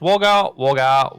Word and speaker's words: Wagga Wagga: which is pretty nice so now you can pronounce it i've heard the premium francis so it's wagga wagga waggham it's there's always everyone here's wagga wagga